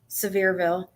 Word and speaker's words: Sevierville: Sevierville.